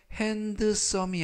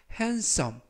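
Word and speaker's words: handsome: 현성 잘 생겼다 이때 핸섬 하면 잘 생긴 이라는 형용사가 되겠고요 알파벳 끼가 이번 단어 에서는 묵음 이라서 핸드 섬이 아니라 핸섬 이라고 발음 하시면 되겠습니다 즉 전체적 의미는 그는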